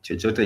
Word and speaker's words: chochote: And if someone says si kukula chochote, chochote is CHO again, and TE, chochote.